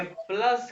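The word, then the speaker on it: plus: अच्छा प्लस की स्पेलिंग तो वही है लेकिन इसको जर्मन के लिहाज से प्लुस कहेंगे।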